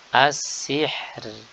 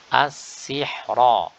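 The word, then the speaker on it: السحر: As-sihr, as-sihr. Adapun ketika wasal maka dibaca dengan tebal. As-sihra, as-sihra.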